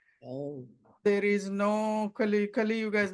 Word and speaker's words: Kali Yuga: doing the meditation because Kali Yuga pronunciation was wrong. She was saying Kali Yuga. It is not. It's Kali Yuga.